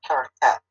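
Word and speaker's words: Parokhet: It's called the parakeet. The parakeet, and that is spelled P-A-R-O-K-H-E-T.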